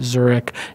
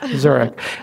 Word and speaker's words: Zurek: Angel Co / zurich zu r EK like the city pronounced like the city spell slightly yes zurich and yeah thank you